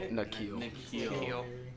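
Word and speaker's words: N'Keal: Is it Keneal? Is that how you say it? Nikhil. Nikhil. Nikhil. It would be Keneal if the K came first.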